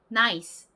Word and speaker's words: nice: 만약에 이 단어의 발음이 저희가 보통 콩글리쉬로 발음하는 것처럼 나이스 이렇게 발음이 난다라면 그렇다면 이 끝에 스 부분도 하나의 음절로 치겠지만 영어에서는요 이 라는 발음이 나지 않습니다. 그냥 nice 이렇게 바람 빠지는 소리가 날 뿐이에요. 그래서 실질적으로 여기서 진짜 모음